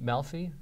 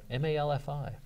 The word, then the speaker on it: Malfi: I think it's Malfi. Yeah. Great guy. I've talked to him a couple times. M-A-L-F-I.